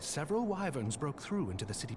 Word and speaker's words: wyvern: And 'tis said several wyverns broke through into the city proper. Excuse me, it's pronounced wyvern.